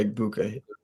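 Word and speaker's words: Egbuka: Of course, you have the young star Ubuka. Is that how you say it? Yeah, Ibuka, Emeka Ibuka.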